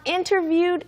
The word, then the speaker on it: interviewed: is you interviewed for but remember the D on interviewed is very very soft it's not gone but